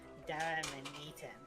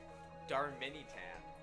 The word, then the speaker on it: Darmanitan: I thought there was an extra A after the R, so I thought it was Darmanitan. One more time? Darmanitan. Darmanitan.